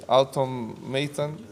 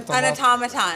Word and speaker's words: automaton: And at some point he just you just become a uh, how do you say automatan? An automaton.